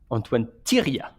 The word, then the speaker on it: Antoine Thériet: The second T is silent. Antoine Thériet.